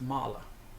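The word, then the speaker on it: мало: word is Malo Malo it's kind of pronounced Mala because you uh like I said you li and the O when it's unstressed kind of turns into like a schah kind of an a sound yal okay I I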